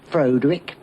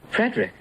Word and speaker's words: Frederick: No, it's pronounced Frankenstein. Do you also say Freudick? No, Frederick.